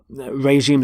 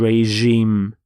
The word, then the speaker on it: regime: changed to reg regime notice the pronunciation of the G is the sound regime so the facet the